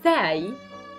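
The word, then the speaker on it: زاي: Now, the next is zay, zay. A zay is like a z in English, the letter z. And we pronounce it z, z.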